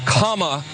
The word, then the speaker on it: Kamala: um hosts on fox her name is pronounced comma like the punctuation mark look kamala okay okay